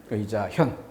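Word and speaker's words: 義自見: 의자현. 그래서 드러난다. 볼견자가 아니라 나타날 현이라고 읽어야 되는 것이죠.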